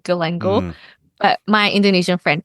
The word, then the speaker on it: galangal: and what's it called galangal y that's what we call here Gango yeah Gango I think I I don't pronounce it like the Southeast Asian way I pronounce it the Aussie way Gango but my Indonesian friend